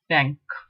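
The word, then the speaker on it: cinq: Number 5, SINQ, pronounced as sank. Sank. Equivalent maybe SANQ, sank. Sank.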